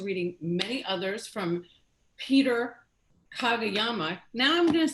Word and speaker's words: Kageyama: look forward to reading many others from peter kagayama now i'm going to say it wrong you